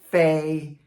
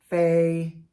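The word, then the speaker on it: 妃: Today our first character is first tone fay.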